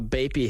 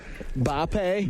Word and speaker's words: Bape: That's how you gotta floss it when you buy a Bapey hat. How do you say that? Bape.